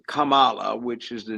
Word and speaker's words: Kamala: In fact, her name, that Kamala, like bull, the name is Kamala, which is the name of a Hindu goddess.